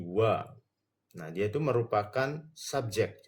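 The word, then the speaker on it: は: Nah, kata sebelum partikel ini huruf H ya, Minasang. Tapi dibacanya dia tuh jadi wa.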